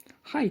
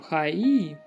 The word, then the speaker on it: はい: Хай, Танака. 田中です。 Хай, Танака дэс. はい。はい。 Вось, яшчэ вось чуеце, просто пишется ха-і, но мы не кажем ха-і, мы кажем хай.